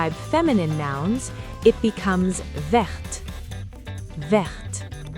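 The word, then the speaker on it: verte: When used to describe feminine nouns, it becomes vert. The T is pronounced here.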